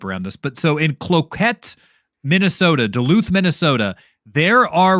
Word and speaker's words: Cloquet: story, this is in, I don't know the pronunciation of this, Cloquet? Yeah, Cloquet? That's how you say it, Cloquet.